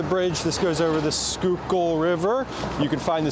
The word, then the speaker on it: Schuylkill: You can find the pronunciation of it uh in my in the sound of my voice as I'm saying it out loud.